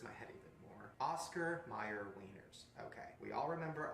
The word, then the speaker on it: Mayer: You know what M-A-Y-E-R is? John Mayer. That's how you say it. Mayer. Not Meyer.